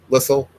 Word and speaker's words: Lissel: Um, yeah, but one, if people pronounce it like whistle, it's not going to hurt, you know. And Lissel, whistle, that's fine.